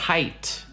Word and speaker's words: height: Я понимаю, что написано A, логично было бы hate, но такое слово уже есть, оно пишется по-другому. Плюс еще, не помогает тот факт, что слово weight пишется похоже, но произносится weight со звуком A, а height это просто height. Нужно просто запомнить.